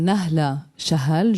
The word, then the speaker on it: Nahla Shahal: Et je m'appelle Nahla Shahal. Je sais que c'est beaucoup moins évident de prononcer toutes les H non aspirées, mais c'est comme ça.